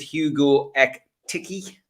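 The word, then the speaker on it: Hugo Ekitiké: heavily uh linked with hugo ek tiki uh which is the right pronunciation but is that is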